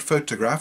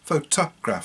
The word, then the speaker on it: photograph: in the next word photograph is a photograph photograph and in the last one is a photographer so because they mean the same they're spelt the same but pronounced quite differently the other interesting one